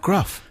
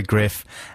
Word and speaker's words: Gruff: It's pronounced Griff. Is it? Yeah. Not Gruff? No, Griff Reese.